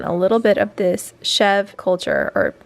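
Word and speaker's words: chèvre: little bit of this chev culture or I've heard it pronounced chev or chevra. I think it's chev. It's a French name for goat cheese.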